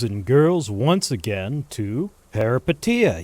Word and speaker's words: Peripeteia: Welcome back, boys and girls, once again to Parapetia. Yes, I uh finally looked up how to pronounce it. It's Parapetia.